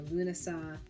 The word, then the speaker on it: Lughnasadh: I've seen this in Lughnasadh celebrations as well or Lúnasa, depending on where you're from, how you pronounce it.